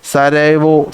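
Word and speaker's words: Sarajevo: അതിന്റെ ഉച്ചാരണം നമ്മൾ നോക്കുമ്പോൾ ഈ ജെ അവിടെ സൈലന്റ് ആണ് ഓക്കെ സരൈവോ സരൈവോ എന്നൊക്കെയാണ് പറയുന്നത് ഓക്കേ സാരയാവോ എന്ന് എന്താണ്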